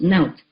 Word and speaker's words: NOT: N O T pronounced note.